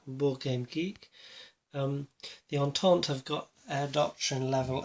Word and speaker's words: Entente: Air Doctrine, the Entente, because it's been pointed out to me how to pronounce it correctly now by a friendly chap from Board Game Geek. The Entente have got Air Doctrine level of 2.